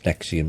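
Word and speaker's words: NXIVM: Nexium the drug, the same pronunciation as Nexium the sex cult and child pedophilia, with a young girl at the table with a pizza.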